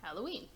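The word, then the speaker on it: ハロウィン: Halloween is pronounced Halloween.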